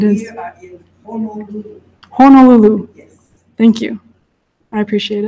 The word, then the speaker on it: Honolulu: People who know me, I am a stickler for pronunciation of Hawaiian words. Yes, it is. We are in Honolulu. Honolulu.